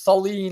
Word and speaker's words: Salih: Is it Salih Hudayar? Is that how you say it? Yeah, we pronounce it as Sully, like the guy off of Monsters Inc.